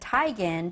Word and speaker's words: Teigen: So how do you pronounce Teigen. It? I pronounce everything wrong, so. Well, no, she came out and she said, okay, actually my name is said Tigan, but because everyone has